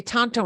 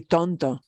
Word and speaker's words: tonto: Tonto Natural Bridge Tonto Verde yeah and we say Tonto in English when we see that but this is really tondo means foolish if somebody